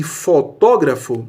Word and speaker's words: fotógrafo: É correto afirmar que, nos termos antropólogo e fotógrafo, a sílaba tônica recai na penúltima. Falso. A sílaba tônica está na antepenúltima. É onde está o acento. Antropólogo, fotógrafo, antepenúltima.